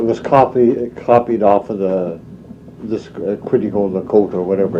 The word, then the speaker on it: Quetico: The proper pronunciation for Quetico is Quitico-Lacote, means beyond the horizon.